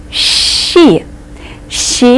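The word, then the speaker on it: щи: easiest word with the letter sha in it sh she is the name of a soup that that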